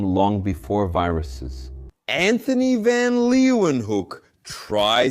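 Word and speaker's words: Leeuwenhoek: Anthony van Leewenhook. Try saying that. It's Dutch. Leewen Hook. I think that's how you pronounce it.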